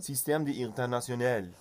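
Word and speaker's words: Système International: Par Evet sistem İnternational bunu Fransızca böyle okunuyor İnternational diye okunmuyor Söyle bakayım evladım sistem İnternational of inanılmaz ve bu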